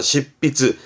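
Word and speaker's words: 執筆: 십비즈처럼 N 때문에 P가 되는 거고 요거 때문에 발음이 바뀌죠. 그러니까 츠 다음에 하히후헤오 보이면 초금 변형과 반타금, 그래서 십비즈, 시츠히즈가 아니라 십비즈라는 부분도 알아두셔야죠.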